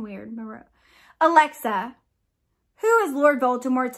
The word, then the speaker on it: Merope: And then I think this is his mom, Merope. I'm blanking on her name. My Harry Potter knowledge is failing me. No, it's Merope. Why does that sound weird? Merope.